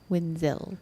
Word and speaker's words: Winzel: Winzel. Boom, Pronounce Winzel like a ZEO or ZO.